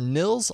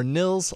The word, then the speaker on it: Nils: pretty darn capable without that upgrade search for Nils lock screen notifications that's spelled n i LS in the Play Store